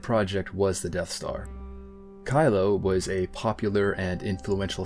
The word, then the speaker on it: Cylo: Not Kylo Ren, but an Imperial scientist named Kylo, which is spelled with a C and not with a K.